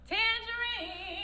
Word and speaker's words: Tanjareen: You see how she spell it? TanjareeN. It's correctly pronounced Tanjareen.